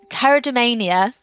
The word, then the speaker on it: pteridomania: Pterodania, which is really hard to say, and it's even harder to spell because it has a silent P at the start.